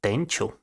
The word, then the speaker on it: Tenchu: It's actually pronounced Tenchu. Tenchu?